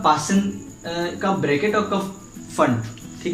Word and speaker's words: Pfund: कब ब्रैकेट और कब फंड। ठीक है, कुछ लोग इसे पी फंड बोलते हैं और फुंड भी बोलते हैं। हिंदी में जो इसका प्रोनाउंसिएशन होता है वो फुंड होता है।